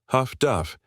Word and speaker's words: HF/DF: Sailors, unable to pronounce it amid the chaos of battle, shortened it affectionately. Huff-Duff.